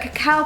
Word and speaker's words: cacao: It's not cocoa powder.